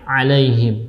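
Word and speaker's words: عليهم: Nah, dalam posisi alaihim juga jangan sampai kita ganti huruf ainnya dengan huruf hamzah. Jadi yang benar adalah ain, alaihim.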